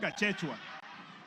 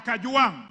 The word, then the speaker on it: Gachagua: Speaker, first of all, pronounce my name properly. I'm not Gachechua. I am Kajuang, not Kanjoang.